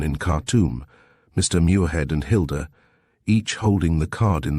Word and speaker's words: Hilda: Hilda? I rather like the name. It rhymes with Gilda.